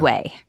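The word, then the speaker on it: Ouai: seen their advertisements because whey is spelled o you a i and you're thinking no way and I'm saying yes way that is how you spell it wash your way to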